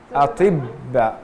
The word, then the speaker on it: أطباء: But this shadda is on the ba. Atibba.